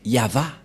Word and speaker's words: Yahvah: Et la suite, c'est Vav et He. Et la prononciation de ceci, c'est Yava.